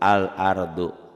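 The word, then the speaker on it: الأرض: Huruf komariah, alif lam komariah apabila dibaca tulisan dan bacaannya sama. Al-ardu. Alif lam komariah ini juga disebut ya idhar komari. Kenapa idhar? Karena dibacanya nggak boleh idgham, nggak boleh al-ardu, nggak boleh ditahan.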